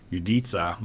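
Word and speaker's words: udica: You could attempt to write policy for that, but there's actually a really cool, nice tool called Uditsa, or Utica is how I would pronounce it, but Uditsa is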